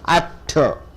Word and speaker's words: utter: You stress on the first syllable. Utter. So how do you stress?